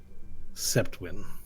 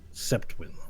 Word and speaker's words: Sjeptwyn: You may call me Septwin. It's spelled Sjeptwyn. Septwin.